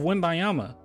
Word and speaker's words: Wembanyama: Also, we've looked at the before and afters of Wembanyama. Gotta pronounce the N.